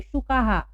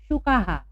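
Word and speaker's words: शुकाः: एक हो तो शुकः, अब यहाँ 7 है इसलिए शुकाहा। ठीक है, यहाँ भी विसर्ग के पहले आ की मात्रा है, इसलिए हम हा पढ़ेंगे, तो सप्त शुकाहा।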